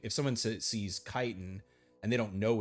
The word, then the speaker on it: chiton: know that though that's c h is pronounced with a k, not ch the way it is in English.